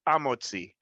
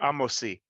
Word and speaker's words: Hamotzi: So the Sephardim, specifically Ladino speaking, when it comes to the He Hayediyah before Hamotzi, they would never pronounce the He. It would be Amotzi or Amosi.